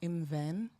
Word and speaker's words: Imwen: My name is Iman, pronounced Imven, and I'm a play alchemist, and I create spaces for adults to play.